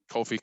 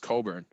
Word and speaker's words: Cockburn: Kofi Cockburn. How do you say? That's not how you say his last name, is it? No, it's pronounced Coburn, but it's spelled very clearly.